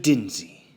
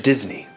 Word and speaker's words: Disney: DINSEY? NO, I'M MR. DISNEY. IF YOU'RE GONNA SAY IT, SAY IT RIGHT.